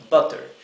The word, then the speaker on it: butter: butter butter es manteca con doble t butter igual que en Buffalo butter como como tenemos una doble t después de la u la u se pronuncia bien cortita butter Si en lugar de